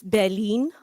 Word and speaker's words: Berlin: You guys, I think say Berlin, but it's Berlin. Berlin.